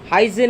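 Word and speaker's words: hygiene: अ बहुत बढ़िया बहुत सारा पक आंसर अ हजीन हो यार करेक्ट आंसर यार प्रकृत प्रोनाउंसिएशन हमें करबा एच वाई जी आई ई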